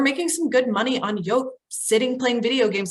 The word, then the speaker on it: Yoke: Sign up for Yoke. Like an egg yolk, except it's spelled Y-O-K-E.